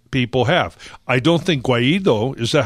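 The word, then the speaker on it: Guaidó: I don't think Guaido, is that how you pronounce his name, is Guaido? Guaido, yeah.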